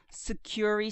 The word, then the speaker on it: Sucuri: Now, this particular plugin is called Sucuri Security, and that's an S-U-C-C-U-R-I. I have a tendency of trying to spell it like you would spell security, and you get something totally different, but it's S-U-C-U-R-I, and we're going to search plugins.